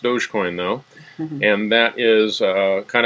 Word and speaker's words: Dogecoin: Dogecoin, which uses the doggy, and it is pronounced Dogecoin though.